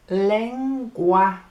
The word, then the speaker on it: lenguaje: The word for the language is it sounds different. Lenguaje. It's got wahe and wahe. So, lenguaje. And if you think about our word language, so lang becomes leng, gui becomes gua, and j becomes hey.